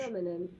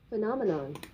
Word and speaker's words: phenomenon: Phenomenon. Phenomenon. Phenomenon. In British English and in American? Phenomenon. Phenomenon. Phenomenon. So in American they focus much more on the N's.